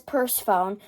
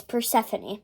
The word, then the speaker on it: Persephone: i know i know it looks like it says purse phone but it but we searched up how to pronounce it and it's persephone and who is persephone this